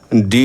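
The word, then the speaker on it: door: বলে বলবো ফো ফো ডি ডবল ও আর ডোর না বলে বলবো ডো next number two number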